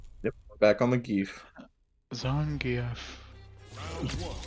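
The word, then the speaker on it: Zangief: Zangf. I think that's how you're like supposed to pronounce it. It is. It's Everyone says Zangf.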